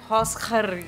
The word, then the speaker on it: Holzer: Tapi sebenarnya kalau di Jerman itu bacanya Holzer.